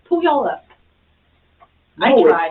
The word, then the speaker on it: Puyallup: It's Puyallup. No, I tried. it's not. It's spelled that Well, she way.